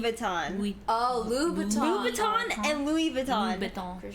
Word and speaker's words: Louboutin: No, it's Louboutin. it's Louboutin and Louis Vuitton. Okay, and I'm not gonna Yves fucking Saint pronounce everything in the Laurent.